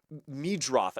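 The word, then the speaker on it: Meidroth: Chase Merrido batting Meadroth is how you say that. I totally misread that.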